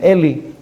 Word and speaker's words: Eli: from Ali a coin come pronounce his name Ali some pronounce his name le 51 years Shmuel Hanavi